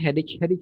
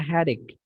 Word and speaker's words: headache: Ya, banyak orang bilangnya headache ya. Awas, ini bacanya headache. Nah, pakai K, headache.